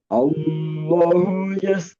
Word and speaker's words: Allah: Allahu Allah a lebih maftuhah. Ee lebih terbuka artikulasinya lebih jelas.